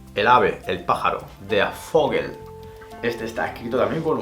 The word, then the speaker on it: Vogel: En alemán la V se pronuncia como una F.